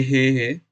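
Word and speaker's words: へ: तो फिर से अगर ये पार्टिकल है, तो अगर इसे हे को पार्टिकल की तरह हम यूज कर रहे होंगे, तो इसे हम प्रोनाउंस करते हैं ए, या मराठी में ऐसे ए।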